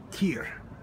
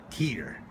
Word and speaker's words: Tyr: this is our first morning here in uh tier tier yeah that's the way they pronounce it this is the little city the